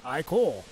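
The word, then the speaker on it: ichor: I can fill it with magical iore that's pronounced iore choose your iore wisely iore of renewal iore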